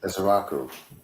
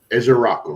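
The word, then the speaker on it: Ezeiruaku: Pronounce Donovan's last name for me properly. Ezeraku. Ezeraku, right?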